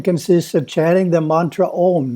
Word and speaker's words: Om: The first syllable is A, pronounced as the English word ah, but prolonged, ah. The second syllable is U, as in roof, but pronounced oo, but prolonged, oo.